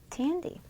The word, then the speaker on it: Tandy: Tandy. Yeah. Rhymes with a candy.